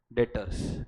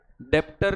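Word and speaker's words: debtor: तो जब कोई पर्सन से पैसा लेना बाकी है, रिसीवेबल है, तो वो पर्सन को हम बुलाते हैं डेटर्स. क्या बुलाते हैं, डेप्टर नहीं, बी इज साइलेंट.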